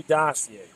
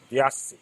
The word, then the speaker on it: diocese: The abuse scared every dossier. Or deal the dossier? No, not dossier. Excuse me. I've been mispronouncing it. Diocese.